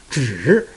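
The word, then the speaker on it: 纸: The second line, zhi, zhi, that's a third tone. Zhi, that means paper.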